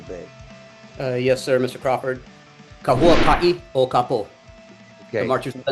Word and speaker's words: Huaka'i O Ka Po: Matthew, why don't you help me out here with the pronunciation of the title a little bit? Yes, sir, Mr. Crawford. Huaka'i O Ka Po, The Okay.